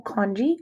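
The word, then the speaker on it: conchae: called the natural nasal congee i know there's no g in there but that's how it's pronounced and what those are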